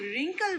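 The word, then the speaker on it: wrinkle: लेकिन जब हम रिंकल बोलते हैं और W साइलेंट है।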